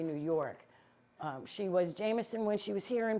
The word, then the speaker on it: Jemison: Now you see how her name is spelled Jon. J E M I S O N. When they were here in this county, it was Jameson like the whiskey. Jameson like the whiskey.